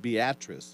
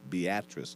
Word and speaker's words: Beatrice: interstate four hours went less than 20 miles beatrice it's spelled like beatrice okay but they pronounce it beatrice in nebraska like we pronounce milon instead of